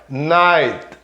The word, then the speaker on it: night: E repara, ó, night, o T é quase mudo também, né? Night, aquele T que é feito com a pontinha da língua encostando na pontinha do dente por trás.